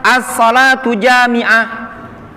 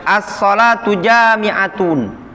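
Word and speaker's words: الصلاة جامعة: mengutus seseorang untuk mengumandangkan assholatu jamiah jadi bacanya assholatu jamiah Boleh dibaca dengan assolatu jamiatun atau boleh asal Ata jamiatan boleh seperti itu Hai jadi assholatu jamiah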